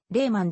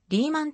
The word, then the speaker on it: Lehman: いる例 1 はドイツ語系のせいなので発音はレーマンで英語では例はに近いが世界的にリーマンと発音する人が多いドイツ